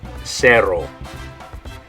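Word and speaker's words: cero: Okay, in English it would be spelled this way, and you would say zero. Okay, but in Spanish it's going to be spelled this way, and the way you're going to say it is cerro. So in English, zero. In Spanish, cerro.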